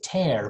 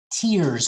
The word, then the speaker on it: tear: next where bear tear if tear is a verb you say tear but when you cry tears come from your eyes right that's tear okay that's tear spelled